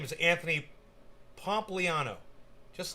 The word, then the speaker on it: Pompliano: was the guest this guy's name is anthony pompliano just like it's pronounced p-o-m-p-l-i-a-n-o pompliano anthony january six panel votes to hold